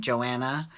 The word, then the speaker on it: Johanna: there is house friend Johanna, but her name's Johanna, but she pronounces it Joanna, and she's her house friend, and they created that dummy Twitter account, house friend Joanna.